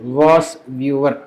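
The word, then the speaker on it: VOSviewer: तो एक सॉफ्टवेयर है फ्री ऑफ कॉस्ट, पूर्णतः निःशुल्क, यू can install, you can download, that is वॉस व्यूअर।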